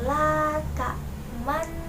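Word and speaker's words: لَا تَأْمَنَّا: Ismam adalah mencampurkan dhammah pada sukun dengan memoncongkan bibir. Bacaan ismam ini ada pada Quran surat Yusuf ayat 12, yaitu dalam kata la ta'manna. Gitu ya, bacanya seperti itu, bibirnya dimanyunkan.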